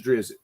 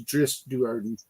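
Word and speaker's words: Drizzt Do'Urden: I've known that I thought his name was pronounced as drizzit and I saw an interview with Ari salvator he actually pronounced it as dris dardon and um okay now anybody that's familiar with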